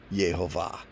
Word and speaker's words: Yehovah: There it is with the vowel pointers, pronounced Yehovah. Love that picture.